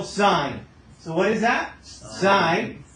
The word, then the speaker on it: sine: abbreviation for it but because it's abbreviated you're tempted to say it wrong so when I see this right here you still say son right I know it's tempting right to say differently this is still sine so what is that